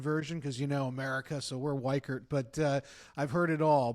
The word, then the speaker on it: Weichert: Well, the pronunciation of my last name is very hard because the Germans love to say Weichart and the Americans like to say Weichert. We go with the American version because America, so we're Weichert.